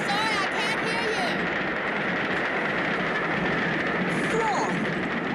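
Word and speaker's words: Froy: Freud rhymes with joy.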